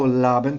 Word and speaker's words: Laban: Oh, Laban, thank you. Laban's See? a rhyme with carbon.